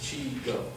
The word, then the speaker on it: Xigo: from a company called Chico xigo is pronounced chigo and the ingredients which